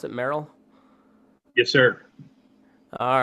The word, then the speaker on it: Merrill: with Mr Merrill is that how you pronounce it Merill yes sir all right uh fellow podcaster Cowboy